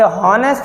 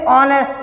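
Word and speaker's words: honest: और क्या पढ़ोगे, हॉनेस्ट, अरे ये हॉनेस्ट नहीं है, ये ऑनेस्ट है। क्या है, ऑनेस्ट, यानी कि साइलेंट वर्ड है, ऑनेस्ट।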